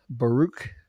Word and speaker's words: Baruch: And yes, you did pronounce Baruch correctly.